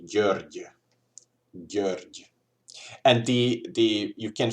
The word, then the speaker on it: György: So the way how you pronounce it, in case you are not familiar with this sound, is that imagine this is the top of your mouth, like this part, the top, and here's your tongue, and you would do